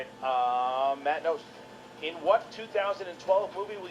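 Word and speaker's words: Knost: Nice, Matt Nost. Hits it here, and now he's What did I say? Matt before the Nost match coming started? through. Matt Nost is the guy. The K is silent, but his 3-pointer from the corner is not.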